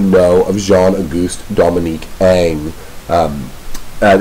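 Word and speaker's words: Ingres: named j a d Ang or Jean AUST Dominique Al um i n g r s in French is pronounced Ang like a NG and this is this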